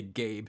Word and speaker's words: Gab: I'm going to say Gabe. There should be an E on it, but it's spelled G-A-B. But it's Gabe.